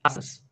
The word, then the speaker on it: asanas: Pronuncia-se asanas, muitos dos quais levam o nome dos animais que os inspiraram.